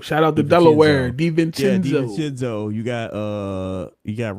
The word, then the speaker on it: DiVincenzo: I can't never pronounce his name. DiVincenzo. Shout out to Delaware. DiVincenzo.